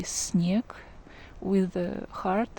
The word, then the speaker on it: снег: The letter E goes after N, that's why we need to pronounce soft N here. We can say that soft N has an impact on the S, that's why S also becomes kind of soft sound.